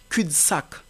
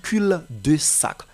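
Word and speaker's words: cul-de-sac: c'est Q par exemple vous allez dire cul sac et non cul de sac C sac vous voyez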